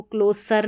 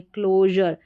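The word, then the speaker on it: closure: देखिए CLO को क्लो पढ़ेंगे, और जर, क्लोजर, तो इसको क्लोसर नहीं पढ़ेंगे, क्लोजर, क्लोजर, treasure, प्लेजर, pressure और मेजर।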